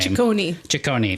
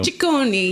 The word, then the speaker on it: Ciccone: I don't know how to pronounce her last name. Ciccone, thank you. Ciccone.